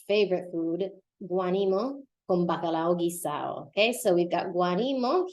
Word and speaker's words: guisado: But guisado, we can see the feature of Puerto Rican pronunciation where they drop the D. That would normally be guisado. Guisado, but it won't sound like that here. It'll sound like guisado.